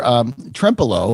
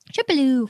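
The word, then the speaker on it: Trempealeau: Trempelo, which I always had trouble pronouncing at the beginning, remember? Because I kept wanting to say Trempelo. Trempelo, which is kind of cute.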